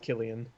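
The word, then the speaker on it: Cillian: morphy all right it's I think I'm pretty sure it's pronounced Killian um civilian Murphy civilian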